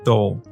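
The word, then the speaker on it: Dole: this and they said it's like pole but instead of P you put the D so it's like dull so thank you for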